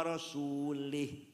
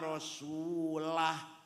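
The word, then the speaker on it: وَرَسُولُهُ: Waallaha barium minal musyrikina wa rasulih. Allah tidak melindungi orang musyrik dan tidak melindungi Rasulullah. Salah. Yang benar bacanya, wa annallaha barium minal musyrikina wa rasulah.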